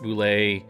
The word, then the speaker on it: Bulette: boule is spelled bul et te when it's pronounced boule and that's weird cuz that's not even how